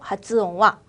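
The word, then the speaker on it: 発音: 니혼고노 하츠옹와 손나니 무즈카시크 아리마생이라고 읽어주시면 됩니다.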